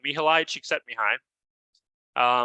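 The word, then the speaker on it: Mihaly Csikszentmihalyi: hard to pronounce but mihilai Chic set me high um I know it sounds like I'm butchering the name but that's actually correct um he was a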